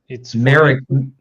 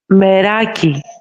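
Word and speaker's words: μεράκι: It's merike. Should we have joy in our work? I think is how it's pronounced. What about pride or honor? Called, I'm sorry to interrupt. It is called meraki.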